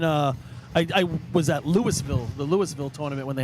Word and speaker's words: Louisville: trucks if I remember isn't it pronounced Louisville no Lewisville don't ever say that over there they get upset it's Louis and everything and how they started